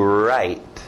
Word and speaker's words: write: mão e a caneta escrito w mais som do R to write to write to right